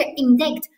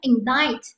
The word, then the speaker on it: indict: 个 c 不发音，不是 indict，它读成 indict，这点很重要。